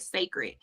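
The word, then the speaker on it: Cécred: so it said it's it's spelled like c c r e r but it's said like sacred now all right now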